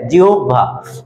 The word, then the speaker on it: জিহ্বা: এই যে জিহ্বা, এটা উচ্চারণ হচ্ছে জিহ্বা।